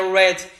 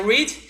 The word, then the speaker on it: read: Aqui, ó, no caso aqui, ó, esse verbo read, né, que é ler, ele no presente ele fala read, certo? No passado aqui, ó, ele escreve da mesma maneira, só que ele é pronunciado de uma forma diferente, que é read. Então, no presente é read, no passado é read. E no particípio é read também.